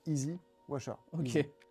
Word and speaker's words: EZ Washer: EZ Washer. Si on le prononce, ça fait Easy Washer, nettoyage facile.